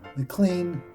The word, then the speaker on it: McLean: Well, someone calls Martin a queen during math class because it rhymes with his last name, McLean, the queen.